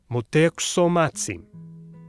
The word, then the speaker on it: Motēuczōmatzin: But out of respect, you might want to add the polite suffix Montezumazin. Did you hear that? Tsin, not tsin. Certain consonants were voiceless at the end of a syllable.